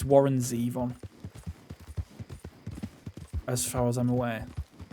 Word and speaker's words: Zevon: You did pronounce, it's Warren Zevon, as far as I'm aware. And you were pronouncing it Zevon. Which is fair enough, because it rhymes. It looks like Devon, but with a Z.